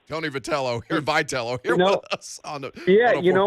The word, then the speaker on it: Vitello: for us so i can yell at him vitello so yell away thank you that's it's a